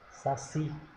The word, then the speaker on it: Saci: então trabalho próxima palavra Saci Vamos separar o Saci Saci sa si a sílaba tônica é o si Então ela é oxítona s é oxítona porção